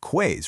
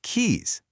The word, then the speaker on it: quays: It totally looks like it should be pronounced quays, right? But it's actually pronounced keys.